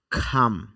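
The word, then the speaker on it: come: অনুশীলন করা খাম আসা কাম না বলে আমরা খাম উচ্চারণ করব খাম আসা কাম কেন হবে না কারণ এখানে এসপিরেশন হবে ফি ঠি খে সিউ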